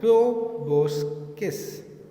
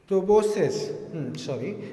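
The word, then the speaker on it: proboscis: ठीक है, फिर आ जाता है इंसेक्ट्स लाइक बटरफ्लाइज एंड बीज सक nectar through tubular structure called प्रोबोस्किस। ठीक है, प्रोबोसिस, प्रोबोसिस इज the correct pronunciation.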